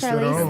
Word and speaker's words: Charlize Theron: I always forget how to pronounce her last name. Charlize Charlize Theron.